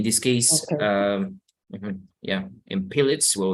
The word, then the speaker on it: Pilates: Okay, so this is pronounced just like very similar to Spanish, Pilates. Pilates.